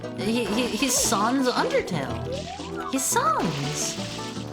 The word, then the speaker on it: Sans: Do you really say Sans's name with a long a like that? Is that not how you're supposed to say it? It's not Sans, right? It's Sons.